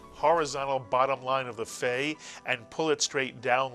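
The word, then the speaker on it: פ: we moove the dog it still is a pay but it's pronounced as an f and so we tend to call it a fay it's a pay that makes an F sound so we call it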